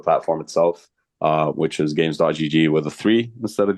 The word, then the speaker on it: Gam3s: go to the platform itself uh which is games.